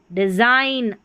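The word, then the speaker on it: design: देखिए साइन, IGN आइन, तो साइन, IGN डिज़ाइन, आइन।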